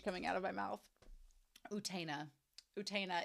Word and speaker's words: Utena: to the Japanese UTA utena so it's like utina utena you I know I may say